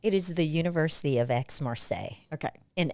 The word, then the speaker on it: Aix-Marseille: So pronounce that for me. It is the University of Aix-Marseille Okay.